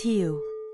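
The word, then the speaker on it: หิว: hungry, which is hiu, pronounced as hiu. Now, to make this stick in your memory, think about the word hue in English.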